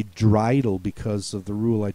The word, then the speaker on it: Dreidel: Dreidel, spelled with an EI for the long A sound.